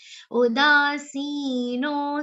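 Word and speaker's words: उदासीनो: Udasino, C and dasino, all three are long sounds together. All three should be said properly.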